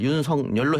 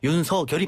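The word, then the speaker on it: 윤석열: 이렇게 했는데 이거는 어 윤성열 총장이 자신의 이름을 윤성열 해 달라고 그랬었는데 국립 어 어 어 국립국어원에서는 윤서 결이 맞다 그랬거든요 그렇기 때문에 뭐 어쩔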